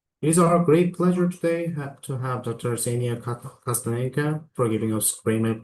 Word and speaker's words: Ksenia: That's Ksenia, K is silent for those of you who haven't met me yet.